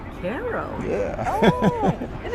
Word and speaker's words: Cairo: Or if you're down in Georgia, you know, how would you say Cairo? The capital of Egypt. Cairo? Yeah, but in Georgia they say Cairo. Cairo.